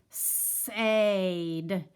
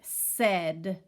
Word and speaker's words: said: instead it's the word said so this letter a has gotten lazy over the time and instead of making his sound the way he should